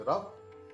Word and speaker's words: rough: कई बार अंग्रेजी में GH का उच्चारण घ न होकर फ होता है, जैसे ENOUGH इनफ, ROUGH रफ, COUGH कफ। यहाँ पर घ का उच्चारण नहीं है, इनक रफ कग नहीं, इनफ रफ टफ, यानी फ का उच्चारण।